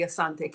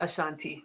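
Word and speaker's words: Asante: meet the king the Assante King you probably pronounce it Ashanti but if it's on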